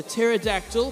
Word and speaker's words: pterodactyl: favorite dinosaur is the pterodactyl because it flies and has a silent p just in case anyone